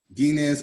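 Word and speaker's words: Guignes: is d e and that's um guinness i forgot that's a french pronunciation on it the gi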